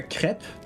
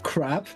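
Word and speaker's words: crêpe: Like uh ah it was creps with uh a crepe. Not crap, but crep. Crepes. It's crepes. Okay. It's pronounced crepes in English.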